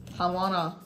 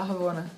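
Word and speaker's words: Ravonna: Ramona. Ramona, Ravona. Ravona. Ravona. Ravona, Isso.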